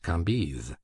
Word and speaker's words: Cambis: There were in Madame de T.'s salon some very noble ladies named Mathin, Noé, Lévis, Levis, which was pronounced Lévis, Cambise, Cambis, pronounced Cambise.